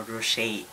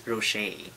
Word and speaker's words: Rocher: So for today's video is mag-unbox tayo ng Giant Ferrero Rocher. So yung pronunciation daw nito is Rocher. So hindi Rocher.